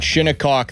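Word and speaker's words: Shinnecock: Uh Windham Clark, he was the US Open winner at Shinikok this weekend. And yes, that is how you pronounce it.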